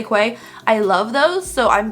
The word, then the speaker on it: Quay: the most honestly are some people say it's pronounced key but it's spelled quite so i say quay i love those so